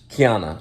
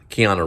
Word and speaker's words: Keanu: it keanu counter reeves kiana i was mispronouncing it wrong kiana no tiana reeves kiana keanu reeves she's honorary kiana keanu